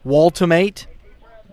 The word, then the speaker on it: Waltmate: Number 13 on as a courtesy runner for the catcher, Luke Waltmate. Am I saying that correctly? Luke Waltmate. Waltmate. Okay. The E is pronounced.